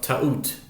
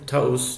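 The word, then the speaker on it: טעות: So to honor that idea, I would employ the gematriatic idea of ta'ut. Ta'ut in Hebrew, ta'us, depending on your pronunciation, means a mistake.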